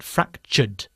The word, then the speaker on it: fractured: accident last week okay this verb ends in the sound of an are so we do not add an extra syllable so we do not say fractured but fractured fractured fractured okay very good